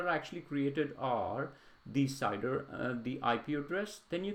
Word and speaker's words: CIDR: This is something called CIDR, or we pronounce it as CIDR.